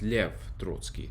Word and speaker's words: Lev Trotsky: with you and uh in russian his name is actually pronounced lev trotsky not leo trotsky was a very interesting